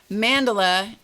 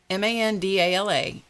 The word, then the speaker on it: Mandala: Mandala, Mandala, is pronounced many different ways. I pronounce it Mandala because that is, for